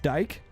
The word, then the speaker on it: Dyke: island uh here but according to this website it's pronounced dyke dick van dyke yeah actually